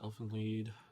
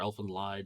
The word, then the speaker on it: Elfen Lied: I've watched Elfen Lied or Elfen Lied, depending on the way you prefer to pronounce it.